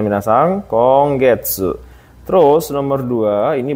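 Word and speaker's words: 今月: ini kanji ada yang tahu gak ini kanji konggetsu artinya bulan ini konggetsu Ini bacanya minasang konggetsu terus nomor dua ini bacanya RSU bulan depan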